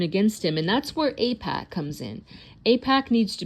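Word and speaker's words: AIPAC: And that's where Apac, and that's spelled AI PAC.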